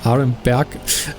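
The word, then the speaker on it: Aremberg: Arenberg is what it's actually pronounced in German, but yeah, as I said, I'm gonna slip up a lot of times.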